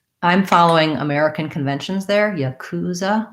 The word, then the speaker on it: yakuza: following american conventions there yakuza which would have second syllable stress but perhaps because it comes from another language it could be yakuza or yakuza they could have a different vowel sounds different syllable stress pattern on that for medipack um